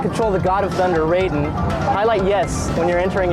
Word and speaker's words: Raiden: If you'd like to control the God of Thunder, Raiden, highlight yes when you're entering your pin and secret character name. Spell it R-A-I-D-E-N.